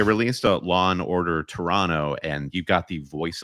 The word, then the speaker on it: Toronto: Toronto Canada yeah but you have to pronounce it Toronto that's what I'm learning if you pronounce the extra t uh somebody here in